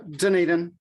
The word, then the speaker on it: Dunedin: fine that's fun yeah dunedin is how i say it there you go yeah